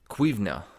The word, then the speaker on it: cuimhne: They had to be a master of cuimhne, that's how you say it in Gaelic.